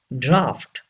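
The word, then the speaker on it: draught: J gauge say this word gauge number five draft yes this th gives the sound of F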